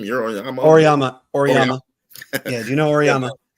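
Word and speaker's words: Auriemma: Oriyama.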